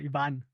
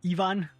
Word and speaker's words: Iván: right yeah it's correct yvonne um it's got an accent on the a but i mean you know people here in germany they call me evan or for people online ivan so i don't really